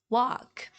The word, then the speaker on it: walk: would say more of walk walk walk okay you just ignore the letter L in the middle in the middle and